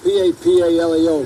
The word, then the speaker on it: Papaleo: Papaleo, P-A-P-A-L-E-O, Papaleo. And in school, they used to call me Papa. Nobody could pronounce the name.